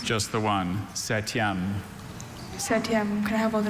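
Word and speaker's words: septième: Are there any alter pronunciations? Just the one. Satyam. Setyam.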